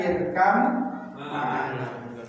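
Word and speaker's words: اركب معنا: 7 Yang 7 nanti yang saya terangkan di antaranya 7 ini termasuk salah satunya irkam ma'ana. Ya, cara bacanya coba. Irkam ma'ana.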